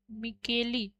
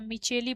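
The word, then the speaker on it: Micheli: चलिए और father of mycology P ए मिचेली के नाम से हैं। इनको भी लिख लीजिए। फादर ऑफ माइकोलॉजी यह कहलाते हैं। पी ए मिकली या मिचेली पढ़ा जाता है इनको।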